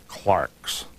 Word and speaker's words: clerks: delightful character uh he called his editors the Clarks British pronunciation for for clerks and uh there's this